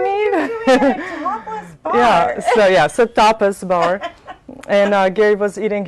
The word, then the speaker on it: tapas: how it pronounced it it was a tapas bar not topless not topless yeah toughest i have